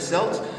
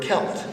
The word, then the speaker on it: Celt: see the word selt selt is the French pronunciation you can hear the word kelt that's a galic pronunciation